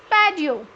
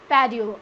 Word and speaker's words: patio: It's not patio, it's patio. Normally in English, when the T word is surrounded by the vowels, then it would be pronounced as D.